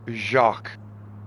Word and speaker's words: Jacques: And I know his name was European and I was thinking, okay, so your name is pronounced Jacques.